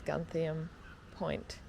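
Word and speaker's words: Gantheaume Point: It actually is Gunthium Point.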